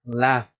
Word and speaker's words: laughed: Okay, este es con la A, se pronuncia con la A. La mayoría lo dice como si fuera la O, como decir el verbo amor. No, don't make a mistake, please. Okay, it's A, laugh. He laughed.